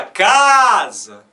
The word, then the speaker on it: casa: A gente fala casa.